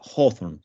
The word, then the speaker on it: Hawthorne: cambio en su apellido y agrega esa W para que el apellido se pronuncie un poquito distinto. Pasa de ser Hawthorne a ser Hawthorne, ¿sí?